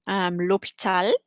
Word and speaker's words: l'hôpital: The letter H is never pronounced. We had that with l'hôpital, hospital. You don't hear it at all.